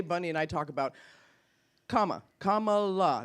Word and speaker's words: Kamala: and I talk about comma K La that's how you say it K just in case you're wondering it's comma and then La I think there's a song There say Camila or Kamala yeah but it's K LA and I think there's